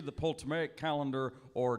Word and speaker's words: Ptolemaic: A, the Hebrew calendar, B, the Coptic calendar, C, the Ptolemaic calendar, or D, the Julian calendar? Yeah, I know. I can never get that silent P thing right. Yeah. The P's always silent.